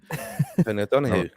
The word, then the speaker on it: Tony O'Donoghue: Tony O'Donoghue.